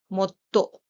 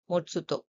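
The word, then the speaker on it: もっと: So it will be MOTTO, not MOTSUTO. Let us pick up one more example.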